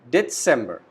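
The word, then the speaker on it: Dezember: December, we call it December. Again, Z alphabet is pronounced as S.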